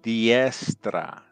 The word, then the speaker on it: diestra: is diestra. Yes. Diestra. Yes. So D-I-E-S-T-R-A. So diestra. So that's how you say it, right hand.